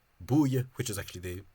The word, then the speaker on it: búile: After all these labial consonants, this sound became an oo, so it became, this flat became a lip protruded oo, which would mean that this word is pronounced búile, which is actually the